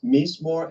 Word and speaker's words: mizmor: You're using two words there, so spell it out for our audience, mizmor and zamar.